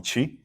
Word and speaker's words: Chi: easier Chi yeah chaii is my full direct literal translation of my Chinese name but I found out people have problem pronouncing that for you know for years I found a proun just call me chi I go that's much